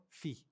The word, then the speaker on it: fille: Fille.